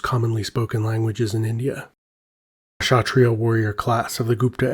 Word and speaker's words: Kshatriya: So I got several comments saying I mispronounced this word, and that the K should be silent. So instead of Kshatriya, it should sound more like Kshatriya, I believe, or Kshatriya.